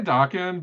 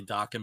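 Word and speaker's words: Daken: So I say Dakin, but that's just because that's how the A typically goes in, like, you know, Japanese names, I think. So I tend to say Dakin, but it also makes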